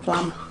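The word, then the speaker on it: Flåm: That's the player that if you're doing Olden or Flam, is it Flam? Flam, not Flam. We didn't go there, so I didn't learn to pronounce that one.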